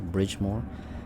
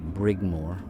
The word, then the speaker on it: Brigmore: of the brigmore witches i was pronouncing it wrong earlier bridgemore i believe dowd's uh character actually said brigmore which is this is